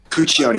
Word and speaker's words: Cuccione: member of the band, Michael Cuccione, I believe is how you say his last name. Correct, Alex? Cuccione, yeah.